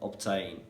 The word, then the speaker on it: obtain: rule so for example in the word obtain letter b comes before the t however letter b is pronounced in this case and